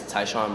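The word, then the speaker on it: Tyshaun: your name can he say his whole name spell it oh my name is taon first name t y s h a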